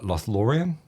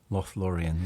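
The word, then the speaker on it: Lothlórien: opened with uh now if I've pronounced this wrong just correct me uh lost laurium lothlorian yes now you wrote that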